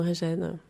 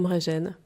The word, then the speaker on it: Mréjen: oui très souvent euh les gens me demandent si on dit mégent ou M gêne et en général moi je dis plutôt me régène est-ce que de façon